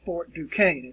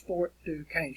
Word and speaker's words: Fort Duquesne: it is spelled fort duquesne or it is pronounced fort duquesne it looks like it would be pronounced new question or something but it's fort to cain's where pittsburgh is located today all right and